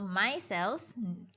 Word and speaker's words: micelles: So they're not saying MY space CELLS for everyone listening. They are saying MICELLES. Myself. Right. So micelles, new word, traps these germs and harmful chemicals and dirt from your hand.